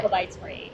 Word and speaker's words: Oubaitori: Oubaitori, correct? Oh yeah. Okay. Oubaitori.